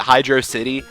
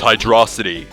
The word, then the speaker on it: Hydrocity: first played Sonic 3 I called it Hydro City and then I my dad was watching me play or something and I'm like oh Dad look at this level Hydro City and he's like it's hydrosity and I would pronounce